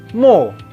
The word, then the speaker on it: mots: T di ujung bentuk singulier di bahasa Prancis seperti halnya alfabet kan itu ya. Tidak bunyi kan, les alphabets, T-nya kan nggak bunyi, ini juga sama.